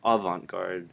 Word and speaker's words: avant-garde: But avant-garde is how most people would say it.